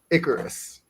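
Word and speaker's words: Icurus: you spell that I how I spell it it's ICU r u s IU R Us yeah and how you how are you saying it Icarus it's so it's it's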